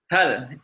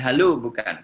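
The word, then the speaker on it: هل: Di mana-mana kalau ada hak dengan lam, bacanya adalah hal. Kalau dia adalah istifham. Bukan halu, bukan hala juga tidak. Hal.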